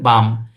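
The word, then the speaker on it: dumb: উইটনেসের ব্যাখ্যা দাও বাম বাম ইংরেজি কি ডি ইউএমবি উচ্চারণ হচ্ছে বাম এই বাম উইটনেস শব্দের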